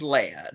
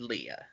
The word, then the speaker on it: Leia: the movies do that we know it's han and leia not han and leah but the movies themselves